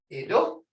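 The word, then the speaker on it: eto: Ido versus jitto. Ido is tree or wood. Jitto, snake. Jitto.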